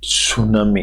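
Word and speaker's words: tsunami: टी सुनामी, इसको T silent रहता है दोस्तों, इसको टी सुनामी नहीं कहते हैं, टी साइलेंट होता है।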